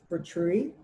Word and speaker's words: Vitruvi: And just before I go to sleep, I use the lavender Vitruvi. How do you pronounce it?